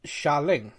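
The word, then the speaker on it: Xialing: a l i n g uh but it's pronounced shaolin yeah i have to look that up i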